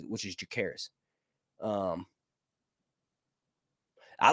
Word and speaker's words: Jacaerys: audiobooks, how the narrator says it, which is Jacaerys. I like the way that's pronounced, actually. I'm not going to lie. Jacaerys.